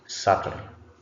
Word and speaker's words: subtle: Then this one is subtle. Subtle. B is not pronounced.